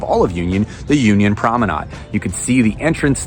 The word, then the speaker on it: Promenade: The Union Promenade, or Promenade as my wife tells me I should be pronouncing it, is a 62-acre mixed-use development located in Union, Kentucky alongside State Highway US 42.